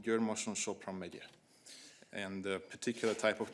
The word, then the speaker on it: Győr-Moson-Sopron-megye: Yes, that's a county in Hungary called Győr-Moson-Sopron-megye.